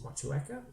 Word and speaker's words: Motueka: It's an Aussie thing, and trust me, I've spoken a bit of Māori in my time, so it's Motueka. So okay, so the E's pronounced almost on its own.